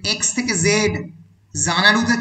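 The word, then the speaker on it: Xanadu: সম্পূর্ণ হয়নি, ততদিন চিরকাল জানাডু এক্স দিয়ে শুরু হবে আর জেড দিয়ে তার উচ্চারণ হবে এবং এক্স দিয়ে লেখা হবে।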